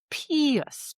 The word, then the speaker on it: Pius: But mainly he gets this epithet pius, Pius, which is why it's our word of the day. And of course, Pius Aeneas, it rhymes.